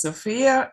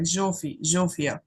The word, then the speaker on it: Zsófia: It's Sofia. I am from Hungary, and there it sounds like Zsófia. Yeah, Zsófia. yeah, Oh, love it. I Zsófia. like it. Call me So Zsófia.